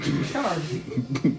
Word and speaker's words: Sharn: Sharn. Spell it for me.